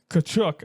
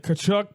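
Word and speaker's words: Tkachuk: Bravowski and then uh and then Barov and Kachuk. I believe it there's not the T is not I believe the T is silent.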